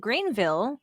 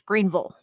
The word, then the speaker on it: Greenville: And so his grandma, she lives in a town called Greenville, which is what I would, pronounce it as. But she says it's Greenville. Sometimes they don't even stretch the E. It's like Grunville, they'll.